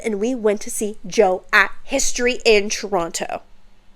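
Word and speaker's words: Djo: Which, bitch, I never even knew it was just pronounced as Joe. I thought it was like D-Joe or some shit like that.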